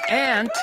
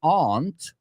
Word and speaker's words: aunt: My aunt told me she doesn't like ants. So that one, it didn't matter if you put yes or no. They can be homophones, but they don't have to be.